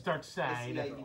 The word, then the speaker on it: Darkseid: Oh, side. It's Darkseid.